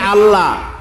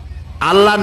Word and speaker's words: আল্লাহ: করতেছেন আমি কি বলতেছি যদি বলি আল্লাহ তাহলে এটা অশুদ্ধ আল্লাহর নামটা হচ্ছে আল্লাহ বলতে গিয়ে মুখটা গোল হয়ে যাবে বলেন তো আল্লাহ মহব্বত